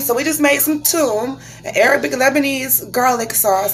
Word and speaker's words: Toum: So we have made Toma. Am I saying it right? Let me see. It's spelled T-O-U-M.